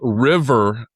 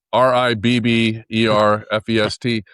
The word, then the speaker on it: Ribberfest: So I know a lot of people think it's river, but it's rib, like ribs, RIBBERFEST.